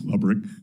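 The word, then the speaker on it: Lebryk: I believe you were approached by the highest ranking career official at Treasury, David Lebrick. Am I pronouncing his name correctly? I believe it's Lubrick.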